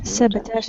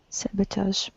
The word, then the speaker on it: sabotage: yes you're right sabotage sabotage is the pronunciation of it here is the correct pronunciation in the chat box sabotage it is of the french origin right next word is